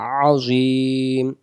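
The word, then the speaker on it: عظيم: দেওয়ার জায়গা আছে পেশটা মনে মনে বাদ দিব উচ্চারণ হবে আজিম আমি যদি বলি আজিম আজিম এ আইন হবে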